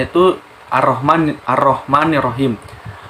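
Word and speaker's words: الرحمن: jadi cara membacanya itu ar-rahman ar-rahman nirohim lah alifnya diberikan Fatah alamnya tidak dibaca seperti Dadal karena dileburkan ke huruf Ro Jadi arrohmanirrohim cara membaca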